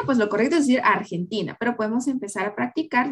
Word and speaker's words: Argentina: Aquí hay un ejemplo de cómo nosotros tenemos que modular nuestra R. Porque nuestra R en español es bastante pronunciada, ¿verdad? En cambio, en inglés es un poco más suave.